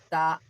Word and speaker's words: ت: The pronunciation of ta. How you will pronounce? From where you will pronounce? The tip of the tongue between the teeth.